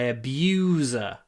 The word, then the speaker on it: abuser: I decided to stand up to my abuser. The word abuser comes from the verb, so it has the long oo in it.